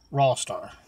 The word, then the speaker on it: Rawstarr: Rawstarr.